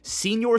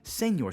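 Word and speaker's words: Señor: I guess I've been saying his name wrong. I've been saying Senior Smoke. A lot of you guys have corrected me. Senor Smoke. I think that's how you say it.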